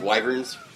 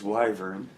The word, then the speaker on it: wyvern: I looked up the proper pronunciation. It is wyvern. It's wyvern.